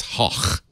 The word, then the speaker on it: Gogh: It's actually not even Gogh. It's Hoch. Hoch? Van Hoch.